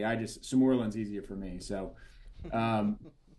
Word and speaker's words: sermorelin: So, especially that combination of enclomiphene and sermorelin, those can take a little bit. Sermorelin, not sermorelin. Potato. I mean, Yeah, people call it things. good. You actually might be pronouncing it correctly. Samorlin's easier for me.